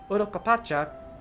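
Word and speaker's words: Urqopacha: They abandoned the lands they conquered and withdrew into the mountains of Urokopacha. Thank you, FanFest, for actually teaching me how to pronounce that in the first place.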